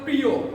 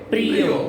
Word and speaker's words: প্রিয়: আমরা বলি প্রিয়, কি হবে? প্রিয়।